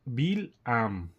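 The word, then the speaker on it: בלעם: El nombre hebreo de Bilam se escribe con las letras Bet, Lamed, Hayim y Mem. Como el texto original no tiene vocales, es posible entender su nombre, ¿verdad? También como Bill Am.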